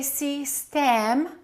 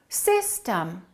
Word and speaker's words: system: e are totally different we don't say C stam we say system the first syllable is stressed the second syllable is reduced so if i take